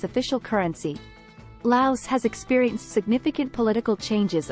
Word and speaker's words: Laos: tech savvy population Laos Laos pronounced without the s a landlocked country in